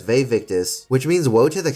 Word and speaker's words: Vae Victis: Marcus says Vae Victis, which means woe to the conquered in Latin. However, the pronunciation is wrong. It should be Vae Victis, not Vae Victis.